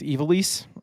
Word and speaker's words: Ivalice: Everybody I've heard says it's Ivalice.